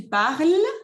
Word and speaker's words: parles: que tu parles, no se pronuncia ni la E ni la S.